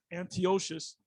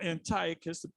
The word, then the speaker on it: Antiochus: son of of uh antioxis or antiochus depending on how you want to pronounce it the king who had